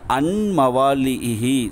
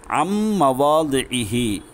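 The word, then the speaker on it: عَنْ مَوَاضِعِهِ: இந்த இடத்துல அன்மவாலிஹி அப்படி சொல்லக்கூடாது, அம்மவாலிஹி. இந்த ஐன மீமோட சேத்திரன் அம்மவாலிஹி திஹி லிஹி அப்படின்னு சொல்லக்கூடாது. லாதுடைய உச்சரிப்பு நல்லா வெளிப்படுத்தணும்.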